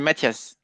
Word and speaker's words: Matthias: I engaged with Matis or Matias? Matis? How do you met him yesterday in person? You know how he pronounced it the same way as me, Matthias.